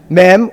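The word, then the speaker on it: מי: Mem.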